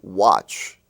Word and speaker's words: watch: match family you have watch w-a-t-c-h it seems that when you have a w in front of an a it changes the sound of the a of the a you